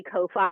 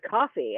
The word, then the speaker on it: Ko-fi: Because you sell, I think it's coffee, but it's spelled so weird that I say Ko-Fi and everybody's like, it's coffee, and I'm like, yeah,